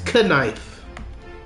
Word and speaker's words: knife: It's not knife, it's knife. The K is silent.